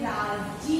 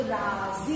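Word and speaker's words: राज़ी: लेकिन राजी नहीं पढ़ते, जी तो जा के नीचे आपको बिंदी लगानी, इससे उस शब्द का उच्चारण हम जा करते हैं, क्या करते हैं, जा, तो राजी।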